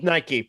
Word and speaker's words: Nike: pronounced that name nike you say nike we say nike yeah wasn't it those